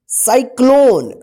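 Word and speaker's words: cyclone: देखिए यहां पे साइक्लोन सी के बाद क्या है वाई है तो सी के बाद क्या है वाई है तो सी का जो है ना स उच्चारण होगा और यहां पे सी के बाद देखिए एल है। ठीक है ना, सी के बाद एल है तो इस सी का क उच्चारण होगा। ठीक है ना, तो इसको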